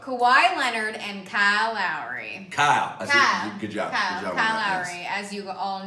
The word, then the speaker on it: Kyle Lowry: would say hola Kawhi Leonard and Kyle Lowry Kyle good job as you all know pronouncing is a wrong for years it's nothing Kayal yep it's Pat Kyle now you cross between